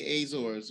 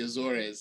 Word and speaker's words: Azores: Punta Punta delada in the azors or the Azores as I guess the locals say so that's like an